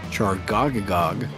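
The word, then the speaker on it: Chargoggagogg: pretty quick um yeah you gotta break it into three pieces it is chargagog yeah that is as good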